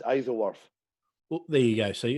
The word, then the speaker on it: Isleworth: It's pronounced Isleworth.